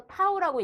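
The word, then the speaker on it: tau: 원래는 이렇게 써서 타우라고 읽거든요.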